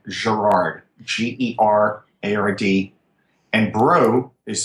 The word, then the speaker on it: Braud: So Gerard is spelled like Gerard, Gerard, and Braud is spelled like Braud, Braud, good French name.